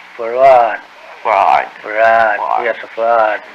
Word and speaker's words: Fard: Farad, F-A-R-D, F-A-R-D. Fard. Muhammad. Mr. Yes. Fard, did you say? Well, that would be the F-A-R-D? pronunciation in English, but we in the Arabic yes, it's Farad.